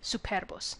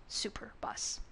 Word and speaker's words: Superbus: of Rome tarquinius Superbus note the pronunciation of Superbus not Superbus he was an at